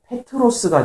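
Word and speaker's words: Πέτρος: 여기서는 베드로를 헬라어 이 성경의 원어로 읽으면 페트로스가 되는데 그것을 이제 영어식 발음으로 베드로 이렇게 한 건데 페트로스가 되는데 그 뜻은 바위라는 뜻입니다.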